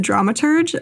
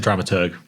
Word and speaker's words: dramaturge: What is a drama tur dramaturge? Yeah. So I do hard G. I've heard the dramaturgeurge version, but for me it's drama tur.